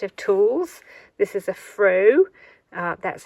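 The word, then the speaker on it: froe: using this set of tools this is a fro uh that's how it's pronounced I haven't got a list it's f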